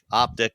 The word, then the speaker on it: Optiq: It's going to be the Optique. Oh, the Optique. No, it's the Optiq.